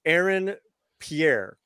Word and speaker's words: Aaron Pierre: So the gentleman that they've cast is Aaron Pierre.